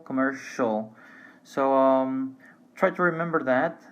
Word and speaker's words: commercial: Well, one thing that I would like to mention before, pay attention that even though we have different spelling here, we have TINAL and CIAL, pronunciation is exactly the same, residential, commercial.